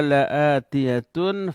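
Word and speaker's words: لآتية: Allah menyatakan, kata Allah, inna sa'ata la'atiyatun fasfahil safhal jamil. Inna sesungguhnya, as-sa'ata hari kiamat la'atiyatun. Ada huruf la di sini juga lam taukid. Dibacanya pendek, tidak boleh dibaca panjang. La'atiyatun. Kalau dibaca panjang jadi tidak.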